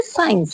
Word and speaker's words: science: SENE, जैसे सीन पढ़ा गया है, मतलब SCENE होता है, लेकिन सीन को सी को साइलेंट किया गया है। नेक्स्ट है साइंस।